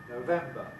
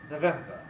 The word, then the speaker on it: November: the month this month the first syllable can either be strong no november or it can be weak november november and again it's a matter of stronghold week some words then of